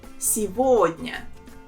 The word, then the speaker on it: сегодня: And here the main thing is that the letter G, we pronounce it as V. So it will become as сегодня.